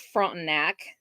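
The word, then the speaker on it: Frontenac: don't know Kansas towns that's front neck it's how that's pronounced it's a little tiny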